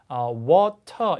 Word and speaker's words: water: 그래서 미국 친구들은 wa 거의 아에 가깝게 앞에 W 사운드 내고 water 이렇게 하잖아요. 근데 영국 친구들은 그냥 water 이렇게 하는 게 아니라 이 모음가가 아주 O에 가깝게 발음돼서 water, water 이렇게 됩니다.